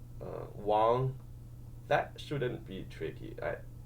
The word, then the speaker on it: Wong: Um but I guess you um that one if they if they were given wo n g which is sometimes like the Cantonese spelling of that name then it's e then they have no choice but to say Wong.